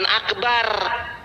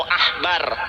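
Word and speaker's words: עכבר: Itu VH Akbar itu adalah tikus besar, tapi bacanya bukan Akbar. Coba tanya guru bahasa Ibrani, itu bacanya Akbar atau Ahbar?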